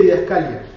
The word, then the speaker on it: didascalia: Entonces yo siempre dije didascalia, pero cuando aprieto el botón para que pronuncie la palabra en griego, dice didascalia, con acento en la i.